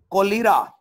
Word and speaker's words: cholera: CHOLERA, कोलेरा। कोलेरा के आगे bracket में लिख लें जुकाम, खांसी और हैजा वगैरह। अस्सलामुअलैकुम सर जी, इसकी प्रोनाउंसिएशन जो है वो कॉलरा पढ़ेंगे।